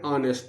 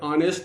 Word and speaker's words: honest: He is an honest man. Here, honest is going to start with consonant letter, but the pronunciation, but the tone, but the sound is missing or incomplete.